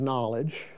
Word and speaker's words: knowledge: it became a g we just don't happen to pronounce the k anymore but it's knowledge of